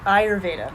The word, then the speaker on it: Ayurveda: so Airy Veda it what's the best English pronunciation because that's something I always mix up too it's okay Ayurveda Ayurvedic so I always spell